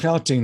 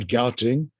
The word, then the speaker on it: Gauteng: Gauteng, and it's pronounced Gauteng, not Gauteng, is the province where Pretoria and Johannesburg are situated.